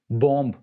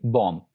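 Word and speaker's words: bomb: बॉम्ब, इसको आपने देखा होगा कि लोग नॉर्मली बॉम्ब ऐसे प्रोनाउंस करते हैं, जो कि बिल्कुल गलत है। इट्स एक्चुअली बॉम्ब, डम, कॉम, लैम एंड थम।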